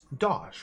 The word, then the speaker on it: dosh: Dosh rhymes with posh.